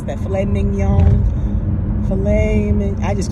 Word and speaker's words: filet mignon: meal I had um four ounces of a filet Nick gnome I can never pronounce that filet mignon I just call it a filet I have